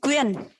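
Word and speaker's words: Quyen: to say my name my name is quinn when when okay yeah yeah that's right q u y e n yeah children too i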